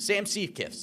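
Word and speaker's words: Siewe: going with Sam uh I want to say his name right uh seys seiss Sam seiss that's what it is uh he was the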